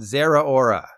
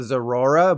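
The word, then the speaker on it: Zeraora: the Unicorn kitty cat Zara Aura I've heard people call it zorora but you need to think Sarah Michelle Geller and Rita Ora when you say Zara aura or pretend you're at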